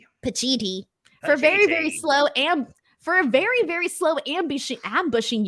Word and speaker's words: Pacitti: Pacitti.